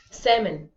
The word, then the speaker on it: salmon: go in the L the L is silent do you notice that why salmon it's pronounced seven right